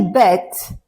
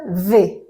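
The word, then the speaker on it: ב: point here we say bet but if if there isn't a point if without a point it's the it's it will be pronounced V okay V so after uh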